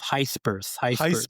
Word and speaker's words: Gijsbers: And today we are talking about Victor Gijsbers, whose name I prepped with offer about 5 times before we started recording this episode right now. Victor Gijsbers. You're not hitting the H hard enough. Gijsbers.